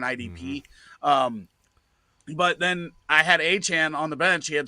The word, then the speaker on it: Achane: Achane, that's what it is.